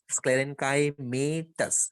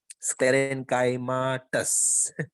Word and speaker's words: sclerenchymatous: Phloem fibre made up ऑफ स्क्लेरेनकाइमेटस, स्क्लेरेनकाइमेटस, स्क्लेरेनकाइमा तक जाना है बारी, स्क्लेरेनकाइमाटस। तो एक काम कर, तू ऐसे बोल, स्क्लेरेनकाइमेटस मत बोल, स्क्लेरेनकाइमाटस।